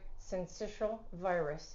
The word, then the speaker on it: syncytial: Respiratory syncytial virus is the official name.